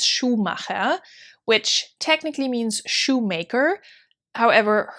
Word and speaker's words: Schumacher: from the american market but americans tend to pronounce it schumacher or something along those lines it's schumacher which technically means shoemaker however her name is